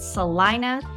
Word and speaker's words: Celina: it is actually spelled Selena but we all pronounce it Salina so just know that coming in but it's